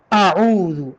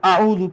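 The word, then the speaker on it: أعوذ: اعوذ کے لفظ کو حمزہ کی جگہ سے، عین کو عین کی جگہ سے پڑھنا یہ ضروری ہے. اعوذ، اعوذ باللہ بالکل غلط ہے.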